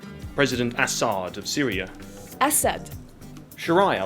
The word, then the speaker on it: Assad: Assad. President Assad of Syria.